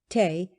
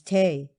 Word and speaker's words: tea: is due t or as it was then always pronounced tae and gentle anna whom three realms obey does sometimes counsel take and sometimes tay pope was first brought